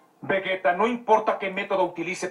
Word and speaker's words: Vegeta: igual que los japoneses es curioso que cuando dicen vegeta dicen vegueta y para referirse al planeta está diciendo bellita que es exactamente pero exactamente como lo pronunció en japonés tanto el planeta como